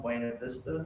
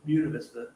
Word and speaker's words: Buena Vista: So he would go into the town of Buena Vista, or Buena Vista in this region. That's how they pronounce it.